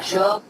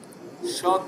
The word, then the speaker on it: should: should Should see. dentist see. Dentist. Yeah, very good. Thank you, Faris. Should see. Take care here. Should. L is silent.